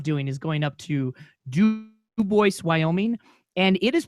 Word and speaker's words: Dubois: is going up to D Boyce Wyoming and it is pronounced dubo despite the fact that is named after the French Trapper Dubois oh man I love